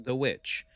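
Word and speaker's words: The VVitch: Although some people were confused by its spelling, Vvitch, it is pronounced The Witch.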